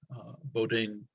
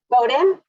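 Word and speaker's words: Bowdoin: a ba in geology from Boudin is that how you pronounce it Jenny Bowden Bowden okay thank you um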